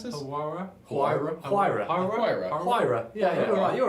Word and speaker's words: Huayra: Do you know how to pronounce this? Huayra? Huayra.